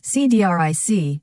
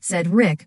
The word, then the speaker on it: Cedric: Sophia used to mispronounce his name as CDRIC rather than said Rick, which annoyed him to no end.